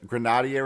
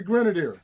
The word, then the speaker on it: Grenadier: of course this guy still playing Larry gr Grenadier is how you pronounce his name I'm Larry Larry Grenadier Grenadier yeah great Bas play um you see